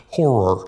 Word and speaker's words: horror: H O Horror. I've had to teach Micah that horror has two syllables, not one because he's been putting one syllable in horror.